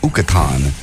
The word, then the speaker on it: Yucatan: No, that's not how you say it. It's Ukatan Beach.